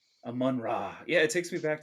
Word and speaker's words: Amon-Ra: Amon-Ra.